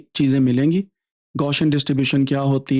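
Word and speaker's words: Gaussian: एक दफा प्रोनाउंस करें ताकि आपको समझ आ जाए। गौशियन गौशियन।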